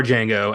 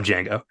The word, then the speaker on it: Django: has that you know the D is silent moment with our Django at the bar which